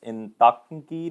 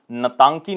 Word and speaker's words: Intanki: And next very important national park here is Intanki National Park. It is basically known as Natanki National Park, but I is silent, but you can also remember Intanki National Park is situated in Nagaland.